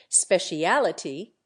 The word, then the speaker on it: speciality: also an alternative form specialty in America is always accented on the first syllable speciality in England on the third the result is two